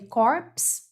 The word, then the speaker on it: corps: Première remarque, attention à la prononciation du mot corpo ou corpos. Então, a gente escreve corpse, a gente fala corps. D'accord? Donc, dans ton corps, non, corps.